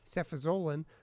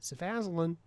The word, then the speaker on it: cefazolin: So at least in this retrospective study of Staph aureus bacteremia, cefazolin, or as my pharmacists love to mispronounce it, cefazolin, is no worse or no better than nafcillin for staph bacteremia.